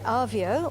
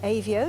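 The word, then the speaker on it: Avio: by the Italian company our view or AV o depending on your pronunciation at their plant in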